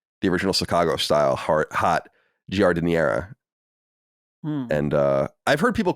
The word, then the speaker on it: giardiniera: And I've heard people call it gardenia. I've heard people call it all sorts of different things, but that's how you say it in Italian anyway, with a bad Italian accent.